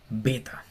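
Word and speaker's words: βῆτα: Hasta ahí vamos igual a nuestro idioma, pero esta se llama beta. Beta. Y tiene que ser pronunciada con B, así como una B fuerte como de boca, beta.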